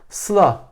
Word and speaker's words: Sıla: Sıla köşeli parantez SLA. Bunu herhangi bir Alman gördüğünde Sıla diye okuyacaktır.